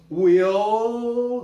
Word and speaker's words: will: Bill, olha o som, Bill, não é Bill, não faz bico para fazer esse LL de jeito nenhum. Will, não é will, repara, se fizer bico tá errado. Kill, não é kill, né?